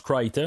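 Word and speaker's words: Crichton: c'est dans le fond c'est marqué comme critchton son nom mais ça se prononce Criton là je v juste le dire de même là pendant des années là j'ai dit cron puisentuellement je tombé sur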